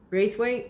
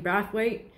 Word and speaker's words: Braithwaite: I do know for sure this is Wayne Braithwaite, or Wayne Brathwaite, depending how you want to pronounce it.